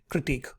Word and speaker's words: critique: criticism and critique now please not the pronunciation of the last word this is pronounced as critique all right now let's